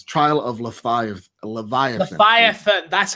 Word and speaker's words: Leviathan: Leviathan.